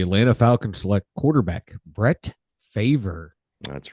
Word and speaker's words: Favre: The Atlanta Falcons select quarterback Brett Favre. That's right. Brett Favre. Which would be how you would pronounce it if you would look at it logically, because the R is after the V.